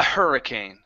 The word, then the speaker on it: hurricane: your you're very close instead of saying our it's a her a hurricane hurricane there you go